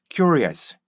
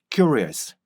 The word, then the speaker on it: curious: 그래서 curious, curious, curious 이렇게요. 큐, 릭, 아스 이거를 쭉 합쳐주잖아요. 그러면 큐, 릭, 아스, 큐, 릭, 아스 좀 더 합쳐주면요. curious, curious, curious 이렇게 발음돼요. 큐, 큐 이렇게 입을 앞으로 빼보세요.